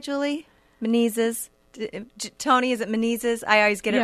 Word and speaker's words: Menezes: Tony, is it Menezes?